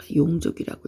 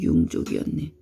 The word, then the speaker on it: 융족: 이 정은 우리는 소정자라고 했었는데 장왕 8년 장왕은 낙양 부근까지 쳐들어온 융족을 토벌하고 용족이라고 읽었던 게 융족이었네.